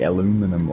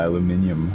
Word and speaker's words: aluminium: hey fny Jag yeah it's like aluminum or aluminium how is that oh